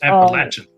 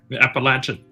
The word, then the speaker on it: Appalachian: Like I'm from the It's pronounced Appalachin. Appalachia. Appalachin.